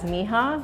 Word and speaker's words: Mija: So there's actually two pronunciations for our bookstore. One, Spanish speakers will see it as mija, which is the colloquial word for my daughter in Spanish. It has a much deeper meaning for us because it's actually the first two initials of our daughter's first and middle name, Mireya Jamila. So another pronunciation is Mija.